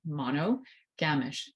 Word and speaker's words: monogamish: So monogamish is spelled M-O-N-O, monogamish, G-A-M-I-S-H. So yes, monogamish, but monogamish, it's like ish-ish. You know, it's like monogamy with an ish. It's like reddish, brownish, yellowish.